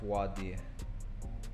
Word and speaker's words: Voir Dire: It's like Voir Dire. Voir Dire.